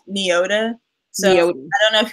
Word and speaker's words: Nyota: been saying the magazine it's just pronounced neo de so you don't know